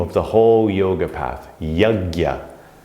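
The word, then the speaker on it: yajña: the whole yoga path yagya sometimes pronounced jagya offering sometimes translated as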